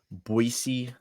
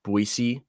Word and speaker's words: Boise: with the Broncos of boisey state and yes that is how you pronounce it it's pronounced boisey not Boise Boise I know that